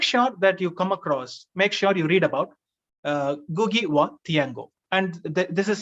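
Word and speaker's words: Ngũgĩ: Gugi wa Thiago, pronunciation N is silent, N G-U-G-I, N is silent.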